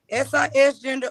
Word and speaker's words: cisgender: It's cis, short for cisgender, pronounced SIS gender, or just cis.